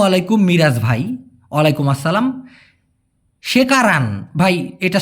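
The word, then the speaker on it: sekarang: জিজ্ঞাসা করেছেন আসসালামু আলাইকুম মিরাজ ভাই ওয়ালাইকুম আসসালাম সেকারান ভাই এটা শেখারান হবে না হবে হচ্ছে সেকারান সঠিক উচ্চারণটা হবে সেকারাং অথবা মাসি মাসিও না ভাই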